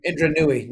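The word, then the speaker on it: Indra Nooyi: Is that how you pronounce her last name? Indra Nooy.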